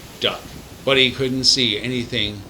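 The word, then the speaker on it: DUKW: pass the bow of their duw which they pronounced duck but he couldn't see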